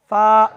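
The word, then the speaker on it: ف: এই অক্ষরটি উচ্চারণে কোনো প্রকার জটিলতা নেই। আলিফ এর উচ্চারণ যেখানে গিয়ে শেষ, এই অক্ষরটির উচ্চারণ ওইখান থেকে শুরু। সূত্র অনুযায়ী এক আলিফ লম্বা, ঠিক এইভাবে ফা ফা ফা।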